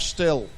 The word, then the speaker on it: STIHL: that we'll go to Stuttgart the home of still Stuttgart the homage still that's getting the pronunciation right isn't it okay let's get our